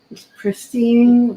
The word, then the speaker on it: pristine: but that's just me pristine rhymes with prissy Christine pristine pristine Christine the pristine